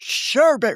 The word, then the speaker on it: sherbet: "Not sherbet. Rhymes with Herbert."